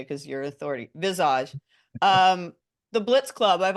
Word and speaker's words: Visage: club and and bassage am I pronouncing it right I've always said bassage but you said it a little differently have I've been saying it wrong this whole time I think we just say it Visage we you say okay